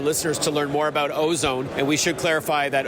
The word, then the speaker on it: Au-Zone: And then finally, what's the best website for our listeners to learn more about Ozone? And we should clarify that Ozone Technologies is spelled AU-ZONE, not ozone as in the ozone layer, but clever play on words, by the way.